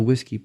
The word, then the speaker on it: WSGI: Several years ago, the Python web development community standardized on the WSGI protocol, which many people pronounce similar to the word whiskey.